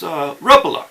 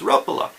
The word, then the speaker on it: Rapala: and I asked him hey how do you pronounce Rapala okay and he's like oh yes RUP Allah I was like okay so it's sorts rough a lot he's like yes rough Allah that's like okay rough Allah and so it's